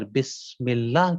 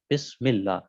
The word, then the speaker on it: بسم اللہ: دوسری چیز کہ آپ کے یہاں کے اوپر حرف سین کا جو تلفظ ہے اس طریقے سے ادا کیا جائے گا کہ جس طریقے سے سیٹی کی آواز آتی.